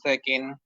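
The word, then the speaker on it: ث: সাবরে সাজিরে সাফি সু জিহ্বার আগা সামনের উপরে দুই দাঁতের আগার সঙ্গে লাগিয়ে সা অক্ষরের উচ্চারণ খুব সুন্দর করে নরম করে উচ্চারণ করতে হবে সা জবর সা জবর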